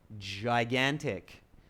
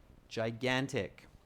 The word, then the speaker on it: gigantic: one with me students a lot of students mispronounced the word gigantic its giant gigantic ok gigantic all right let's see what else has come